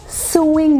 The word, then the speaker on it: sewing: स्यूइंग machine ना? स्यूइंग machine नहीं होती है, वो सोइंग मशीन होती है।